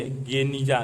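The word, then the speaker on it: Geniza: 1896 के फुस्तात पुराना काहिरा में बने एजरा के यहूदी प्रार्थना भवन के एक सीलबंद कमरे गेनिजा, जिसका उच्चारण गनीजा के रूप में किया जाता है, में मध्य काल के यहूदी दस्तावेजों का एक विशाल संग्रह मिला।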